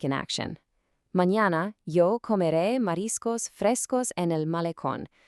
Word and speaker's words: comeré: So, our next crucial verb is comeré, I will eat.